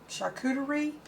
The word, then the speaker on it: charcuterie: these wonderful cheese boards or i think you pronounce it shakur charcuterie where you put all the meats and the